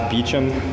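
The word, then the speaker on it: Beauchamp: for having the hearing my name is Beacham uh I'll spell it it's b-e-a-u-c-h-a-m-p and the Northeast region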